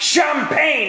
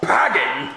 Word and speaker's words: champagne: Well, you know it's pronounced champagne and not packing.